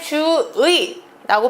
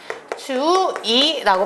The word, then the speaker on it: 주의: 번째 음절에 있는 의아 그렇기 때문에 주의라고 발음해도 되고요 주이라고 발음하는 것 둘 다 허용을 해줍니다 아이가 내발을 꼭 받고